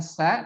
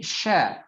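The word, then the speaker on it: ش: Nah, sehingga ketika diucapkan bukan sa tapi sha ya, bergemuruhnya angin di dalam mulut.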